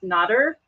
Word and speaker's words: Nadir: So the proper pronunciation is Nadir, but he says either one is fine.